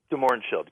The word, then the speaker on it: de Mohrenschildt: Oswald the de Mohrenschildt is that how it's pronounced de Mohrenschildt correct yeah okay how weird is that that